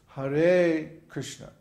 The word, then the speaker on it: Krishna: In Krishna, both syllables are short because there's no long vowels. The R in is short and the A in schna is short. So there's, by the way, there's no I sound.